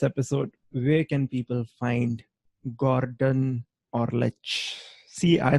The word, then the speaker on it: Gordan Orlic: So before we wrap this episode, where can people find Gordan Orlic? See, I pronounced it correctly this time around.